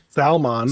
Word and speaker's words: salmon: Salmon.